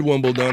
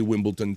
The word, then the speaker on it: Wimbledon: Donkey kington wimble dun I said wimble dun I said it right I got respect for the English The Wimbledon I used to say Wimbleton too yeah AJ the Wimbleton